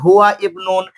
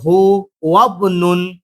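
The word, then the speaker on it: هو ابن: যদি ইবনুন ইবনাতুন ইসমুনের আগে যদি কোনো শব্দ থাকে, তাহলে আলিফটা হামজা ওয়াসালটা পড়ে যাবে, বায়ের সঙ্গে মিলে উচ্চারণ হবে, যেমন হুয়া হু ওয়াবনুন।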